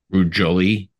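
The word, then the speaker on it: Ruud Jolie: where you have guest guitars From Within Temptation rude Jolie yes well pronounced as well that's good uh it's funny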